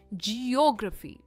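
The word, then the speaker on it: geography: इट इज जियोग्राफी। ओ पर इसका stress है जियोग्राफी यानी भूगोल।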